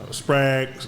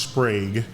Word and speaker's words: Sprague: and so in comparison sprag we call it we call it sprag but it's actually pronounced Sprague but we've got a